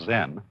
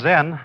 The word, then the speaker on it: Zen: Zen, of course, is a Japanese word, and it's spelled Z-E-N. And that is the Japanese way of pronouncing the Chinese word Chan. And this, in turn, is the Chinese way of pronouncing an Indian Sanskrit word, jnana.